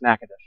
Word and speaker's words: Natchitoches: About the fifth time, I said, you know, if you'd ever been there, you realize the town is actually pronounced Natchitoches.